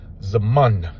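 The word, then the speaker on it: זמן: It's Zaman. This is a za, a ma, and that's a final na.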